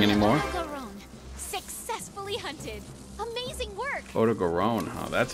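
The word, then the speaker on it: Odogaron: Oto Garon, huh?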